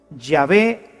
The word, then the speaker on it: Yahvé: soy el que soy se pronunciaría o se diría yé yahvé te envía Así es como habría sonado en hebreo antiguo lo que Dios le